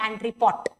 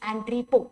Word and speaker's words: entrepot: It is not entrepot. T is silent. It is entrepot.